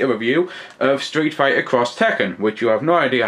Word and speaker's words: X Tekken: was first announced was was X Tekken not cross Tekken so I find out we've been saying it wrong all this time it's taking a little